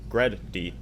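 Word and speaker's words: GReddy: gonna focus it says Grady pronounced gred d noun for the words great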